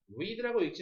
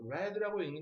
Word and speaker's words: read: will be read라고 읽지 마세요. read라고 읽는 게 맞습니다.